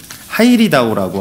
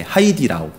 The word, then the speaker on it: 하이디라오: 하이리다오라고 하는. 하이리다오? 예, 그 하이디다오? 예, 하이디라오. 예, 하이리다오 아니고요.